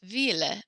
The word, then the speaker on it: ville: Now, I've told you before that when there are two L's in French, we pronounce it with a Y sound. However, this is the one exception. I think because the word ville is very old, it is pronounced ville. We pronounce the L's in it.